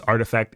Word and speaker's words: RTFKT: I think it's artifact is how it's supposed to be pronounced if I remember correctly.